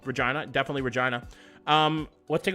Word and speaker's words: Regina: We're going to Regina, the name of the city that rhymes with bun, not Winnipeg.